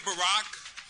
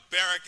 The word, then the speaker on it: Barack: the Senators first name is it Barack or is it barrack I've done my research and I think barrack is not the correct pronunciation a month ago when